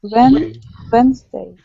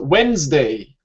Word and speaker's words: Wednesday: E, also E. Wednesday. Which E? Second E. Excellent. Very good. So Wednesday. Wednesday. Yeah, we only say this here. Wednesday. Typed it in the chat. So the D and the E, the second E, are silent. Yeah.